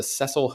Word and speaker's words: Cecil: scene The Vanishing at the cesil hotel or Cecil hotel I think they pronounced it both ways in the documentary but um let's let's